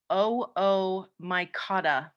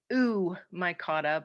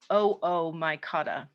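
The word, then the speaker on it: Oomycota: water mold so this terrible looking word is pronounced oh oh my god it looks like it should be ooh my kata but we pronounce it oh oh my god and we used to think that this was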